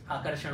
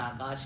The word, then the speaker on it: आकर्ष: मेरा नाम नहीं है, मेरा नाम है आकर्ष, आकर्षण वाला आकर्ष। सो जैसे उन्होंने आकाश बोला, आकाश, then I said no सर, इट्स नॉट आकाश, इट्स आकर्ष।